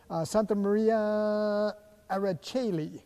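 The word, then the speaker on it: Santa Maria in Aracoeli: Santa Maria Araceli, I think that's how you say it, in San Clemente. That's correct.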